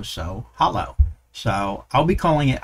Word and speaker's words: Hallo: to install and use Hallo. And I hope I'm saying that right. It's H-A-L-L-O. And according to Google, it should be pronounced as ha plus lo, so Hallo.